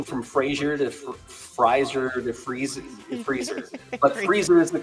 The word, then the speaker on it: Frieser: That's how you say it, right? Freezer. I've heard it. Yes. Freezer. Yeah, like a freezer.